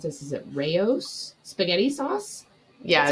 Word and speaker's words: Rao's: Same thing happened with, I'm going to mispronounce this. Is it Rao's spaghetti sauce? Yeah, it's Rao's.